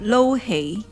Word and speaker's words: lo hei: So how do we pronounce this one? Lo hei, which is the Cantonese version. In Chinese, in Mandarin, we call it yu sheng.